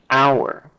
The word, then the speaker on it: hour: me a uniform similarly the word our begins with a consonant H but that acts as a vowel phon name it will take an hour it will take an